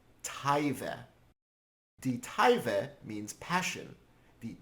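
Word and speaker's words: תאווה: It's pronounced taive.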